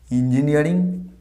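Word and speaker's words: engineering: ইঞ্জিনিয়ারিং, তাই না? ইঞ্জিনিয়ারিং, doctor ইঞ্জিনিয়ারিং বলা হয়। ইঞ্জিনিয়ারিং তোমরা আশা করি পরবর্তীকালে অনেকে হয়তো বড় বড় ইঞ্জিনিয়ার হবে। ইঞ্জিনিয়ারিং, দিস নট ইঞ্জিনিয়ারিং, উচ্চারণটা হবে ইঞ্জিনিয়ারিং, ই নয় এ, ইঞ্জিনিয়ারিং।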